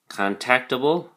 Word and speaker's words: contactable: of them adjectives um contactable contactable notice the emphasis is on the second syllable for contactable that describes someone who